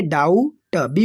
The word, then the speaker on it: doubt: डाउट, बी को छोड़ देना है, राइट करेंगे लेकिन पढ़ेंगे नहीं।